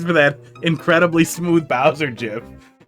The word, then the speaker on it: GIF: But it's gif. You invent something, you get to pick how you say it.